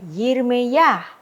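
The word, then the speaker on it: ירמיה: Berarti membacanya dengan ya, Yirme ya.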